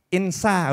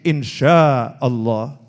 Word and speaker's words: insya Allah: Nah tulisannya INSHA tapi dia bacanya itu insa. Oh keliru nih itu ya. Oh itu pakai shin, insya Allah.